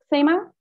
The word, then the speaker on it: Khemā: french and also because in sanskrit uh kima's name is of course pronounced sema um but i'm i'm still going to call her keema because um well that's